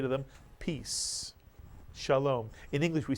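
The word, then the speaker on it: שלום: The word is read Shalom, Shalom.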